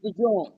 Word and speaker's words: DeJean: Like Cooper DeJean, I don't know if that's how you pronounce No, his it last is. name. It is. It is? It's the John.